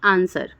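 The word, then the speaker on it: answer: का साइलेंट हम पढ़ेंगे डब्लू लेटर एस के बाद अगर डब्लू आता है तो डब्लू साइलेंट हो जाता है ठीक है दोस्तों जैसे कि आंसर आंसर में आप देखो कि डब्लू का वर्ड यूज नहीं किया जाता है सोड सोड में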